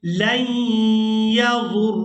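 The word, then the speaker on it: لن يضروا الله: यहाँ पर जो वाव है ये वाव साइलेंट ही रहेगी, इसको अदा नहीं करेंगे। लन यज़ुर्रुल्लाह शैआ।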